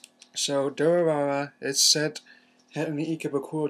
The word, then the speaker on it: Durarara: I mean, I don't pronounce it Dur as in sound motorcycle makes because it could be taken as a derogatory term and when one wants to make someone sound stupid. So, Durarara is set in the